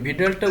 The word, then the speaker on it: Widal: ভিডালটা উচ্চারণ নিয়ে অনেকের অনেক ঝামেলা, আমি এক সময় এটাকে উইডাল বলতাম, তবে WIDAL এটাকে ভিডাল উচ্চারণ হবে।